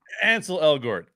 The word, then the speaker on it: Ansel Elgort: So this is it's Ansel Elgort. Ansel Elgort.